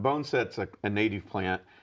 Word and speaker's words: boneset: Is it bonus? How do I pronounce that? Bone set. Bone set.